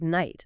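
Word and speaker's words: knight: like the word night. Exactly. That K used to be pronounced.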